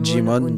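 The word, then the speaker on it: Djimon: Je prononce bien Jimon. Ouais. Moi je dis Jimon.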